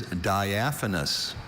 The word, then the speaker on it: diaphanous: D I A P H A N O U S.